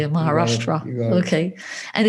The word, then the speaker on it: Maharashtra: Across various rail stations in Mumbai and Maharashtra, if I pronounce it correctly, Maharashtra.